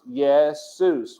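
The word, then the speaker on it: Iesus: into the english text this was pronounced yet soos not asus not certainly not jesus or jesus it was pronounced yes seuss when it was first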